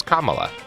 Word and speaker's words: Kamala: Welcome to It Could Happen Here, a podcast about how to pronounce the vice president and maybe future president's name, which is Kamala.